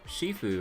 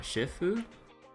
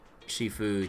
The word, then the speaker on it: Shifu: Yeah, I thought I thought it was Shiffue, right? Not Shifu. Am I crazy or Donna? Do you remember the last time we went to Luminina Square? I was there to pick up the custom accessories for your uniforms. Wait. Uh, it is Shifue.